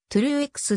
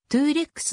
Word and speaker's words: Truex: ライアン 2 レックスなお名字は充実に発音すると true x であり各メディアでもそちらが主流であるが日本人には 2 レックスの方が言いやすいためそちらが浸透し